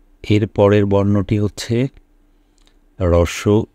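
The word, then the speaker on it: ঋ: এর পরবর্তী যে বর্ণটি আমাদের সামনে রয়েছে সেটা হচ্ছে রি। এটা খুব স্বাভাবিকভাবে আমরা শুধু খুব সিম্পলি আমরা শিশুকে রি বলে পরিচয় করিয়ে দিব। আমি আবারও বলছি, এই স্বরবর্ণের উচ্চারণটি হচ্ছে রি।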